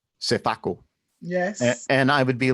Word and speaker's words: Sefakor: it was spelled out Sefakor and it always sounded like the R was missing when she says, she goes Sefako.